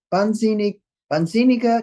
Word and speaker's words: wahnsinnige: Bitte erwähne diese wahnsinnige kleine Göre nicht. Wahnsinniger. You make the A longer because there's an H after it.